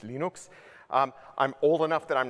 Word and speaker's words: Linux: My name is Linus Torvalds and I pronounce Linux, Linux.